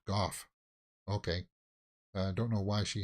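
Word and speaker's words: Gough: She's Irish surname is Irish. We pronounce it Goff.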